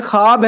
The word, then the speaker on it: خواب: ایسا نہیں ہے، بلکہ اس میں واو بھی ہے لیکن وہ واو پڑھا نہیں جاتا ہے۔ تو واو معدولہ اس